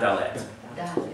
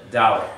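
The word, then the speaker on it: דָּלֶת: We always lean on the first syllable. So it's not what? It's not dalet. It's dalet. Dalet.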